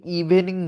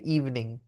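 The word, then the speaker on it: evening: যায় আপনার ঠিক আছে ইভনিং okay good ইভনিং good ইভনিং good ইভনিং আমরা এই ইটা উচ্চারণ করবো না তাহলে কি ইভনিং ইভনিং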